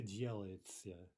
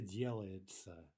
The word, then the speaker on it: делается: By the way, would Russians ever say делается? Right? Would they ever pronounce that word as it's written?